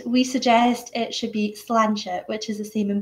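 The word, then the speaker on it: sláinte: learn one word we suggest it should be slanchit which is the same in both languages it's the equivalent of cheers and pronounced lancia and meaning to your health it's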